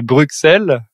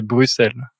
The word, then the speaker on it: Bruxelles: nom de votre capitale parce qu'on a tendance à le prononcer Bruxelles alors que c'est Bruxelles c'est Bruxelles et quand vous prononcez